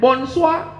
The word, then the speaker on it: bonsoir: Tulisannya bonsoir, bacanya bonsoir.